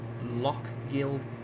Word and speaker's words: Lochgilphead: How the hell do I pronounce that? We are currently near somewhere called Lochgilphead.